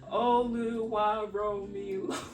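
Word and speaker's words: Oluwaromi: I'd be like, Oluwa Romi. And I would have to say it like that so they understand.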